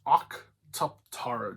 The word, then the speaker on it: Octuptarra: It's Octuptarra droid. You have to make it sound like you're kind of like Geonosian and Neomonian from Star Wars at the same time. It's Octuptarra.